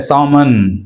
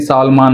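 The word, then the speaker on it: salmon: silent అవుతుంది observe చేయండి అండ్ సామన్ అంతేగాని సాల్మాన్ అనకూడదు సామన్ రైట్ సామన్ కర్నల్ రైట్ కర్నల్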